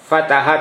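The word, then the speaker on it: فتح: Nah, jadi Anda perhatikan mulai dari kata fataha tadi. Fataha, perhatikan tanda bacanya fathah, fathah, fathah.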